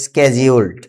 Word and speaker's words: scheduled: শিডিউল, আমরা বলি শিডিউল, আসলে এটা আমেরিকার উচ্চারণে স্কেজিউলড।